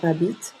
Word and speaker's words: habite: aussi j'habite e final il elle habite le final qui ne se prononce pas donc pour parler je